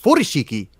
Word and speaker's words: furoshiki: And I believe furoshiki would be pronounced furoshiki with the emphasis on the first syllable.